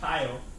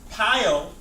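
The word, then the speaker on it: pyelo: talk about piyo okay it's literally pronounced pile p-y-e-l okay you should have read about this but nonetheless pile or we see paolo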